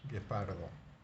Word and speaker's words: guepardo: luego tenemos gay guepardo igual que con qué de queso la u no la pronunciamos de guepardo luego como en guisante